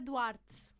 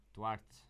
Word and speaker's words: Duarte: Laura Duarte. Duarte. Duarte. Exactly. Ah, so it's like water on rocks. You know, Duarte.